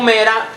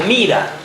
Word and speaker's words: Mira: La pueden encontrar como Mera o Mira. Sí. Sí. Entonces, entre los exponentes de este camino está Mira, que Mirabai era una